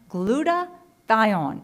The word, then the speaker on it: glutathione: And it's pronounced glutathione, if you want to be proper in the pronunciation.